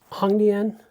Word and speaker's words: Hongdian: You already know from Hong that the O makes the ah sound. So, it's not Hongdian cuz this is an A. It's not Celine's lost brother, Hongdian.